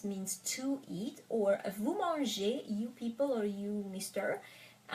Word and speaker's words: mangez: to eat, or vous mangez, you people or you mister, eat, right? So EZ or ER at the end of the word is pronounced E.